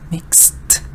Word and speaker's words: mixed: also added sugar good so you have mixed you get the Ed but you get just one syllable mixed Alice added sugar so